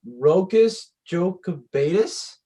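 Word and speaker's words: Rokas Jokubaitis: anymore the next drafted rocus joe cabetus is how you pronounce it guard from lithuania his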